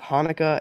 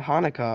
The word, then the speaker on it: Hanukkah: say it with me Hanukkah actually both Hanukkah and Hanukkah are right the holiday's name is Hebrew so there are different ways to spell it and say it in English thanks applesauce says Lucy